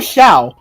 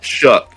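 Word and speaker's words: Shough: So um Tyler Sha uh threw one touchdown and look if you're going to talk about the guy at least say his name right. What is it? Tyler Sha Tyler Sha Shook.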